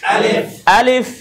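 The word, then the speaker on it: ألف: এজন্য আলিফ উচ্চারণ করতে হলে লাস্টে ফা উচ্চারণ আসে।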